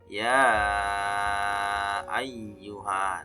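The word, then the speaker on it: يا أيها: Ya ayyuhan. Nah, di sana artinya ya ayyuhan. Di sana ada dua kata ya teman-teman ya. Terdapat dua kata ya. Maka dibacanya 5 ketukan ya teman-teman ya, panjangnya 5 ketukan.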